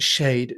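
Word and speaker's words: Schaidt: of a Jo Josh shade and by the way his surname is spelled s c h AI d t it sounds like a sort of a Word Scramble game um but it's pronounced shade so that's how you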